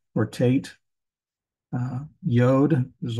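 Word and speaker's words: י: Yod is a Y sound.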